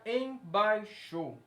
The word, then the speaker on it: embaixo: A palavra embaixo. Qual é a sílaba tônica dessa palavra? Vai. Por quê? Porque ela é pronunciada com mais estresse.